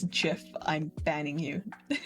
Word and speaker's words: GIF: I know the creator of the GIF format said that it's pronounced GIF with a soft G, but um you can suck it. It's GIF. It's graphical. What was it? Graphical something. Format interface interlace inter the G is for graphical.